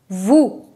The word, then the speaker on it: vous: to listen to listen equity listen next is vous vous vous means you who means you in